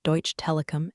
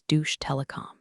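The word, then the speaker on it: Deutsche Telekom: He mispronounced Deutsch Telecom as Douche Telecom.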